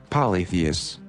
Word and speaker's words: polytheists: Polytheists. Yeah, I did say it right. Polytheists. Polytheists. You don't really say the I.